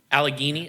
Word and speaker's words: Allegheny: I I didn't actually look up how to pronounce this Allegany Allegheny okay see there Garrett already gets one point